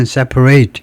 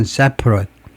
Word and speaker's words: separate: 동사면 separate 이라고 발음하고, 그 다음에 형용사면 separate.